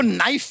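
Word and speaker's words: knife: सलमान जी आपको नाइफ word मालूम है? नाइफ। हाँ। उसमें शुरुआत में जो के होता है, हाँ। वो क्या है? साइलेंट।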